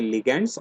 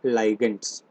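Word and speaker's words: ligands: इनको हम बोलते हैं लिगैंड्स और लाइगेंड्स, कैसा भी प्रोनाउंस कर सकते हैं, लिगैंड्स और लाइगेंड्स।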